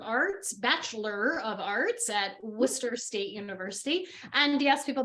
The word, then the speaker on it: Worcester: a Bachelor's of Arts Bachelor of Arts at Worcester State University and yes people that is pronounced Worcester even though it looks like Worchester right you